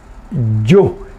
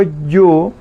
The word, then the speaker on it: ju: Bueno, grillo, que yu, que cuando digo ute, automáticamente recuerdan la Y, que yu, y cuando digo yu es con J, la J es Y.